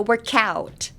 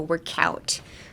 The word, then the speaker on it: work out: So Michael Jackson, he's always like, "Ow," That's kind of the feeling you want, like the ow, but put the k in front of it. So cow, so work out.